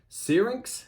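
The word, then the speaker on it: Syrinx: you've got you've got the temples of this searings is how you say that word yeah um that's probably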